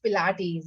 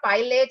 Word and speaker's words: Pilates: This came from Germany, so it's little difficult for Indians to pronounce it.